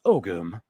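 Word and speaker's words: ogham: way I scrambled for dollars right here ogum pronounced ogum Modern Irish om or I like this guy's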